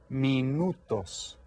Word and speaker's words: minutos: En español se dice minutos. Minutos. This is spelled almost exactly the same as in English, but it's pronounced a little bit differently.